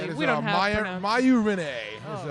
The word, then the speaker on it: Maiju: That is we don't have Mayu Renee is how she pronounces that one.